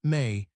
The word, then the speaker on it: me: In Sumerian texts, the mi pronounced may are described as a